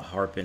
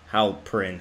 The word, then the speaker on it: Halperin: I think I realized when I was pronouncing the hotel, I called it the Harpin Hotel, but it's clearly pronounced the Halperin Hotel.